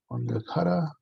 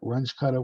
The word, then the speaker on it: Runge-Kutta: I found out that I pronounced this weird because this is what my teachers pronounced it was Wangekutta. If you look up, this guy, these two people, for differential equation solutions, you're gonna hear Runge-Kutta, which sounds awful to me.